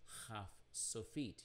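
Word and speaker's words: kaf sofit: dot it is called not cough but a kh sound or transliterated ch but pronounce and when it's at the end of the word it's haf sophiet you add the word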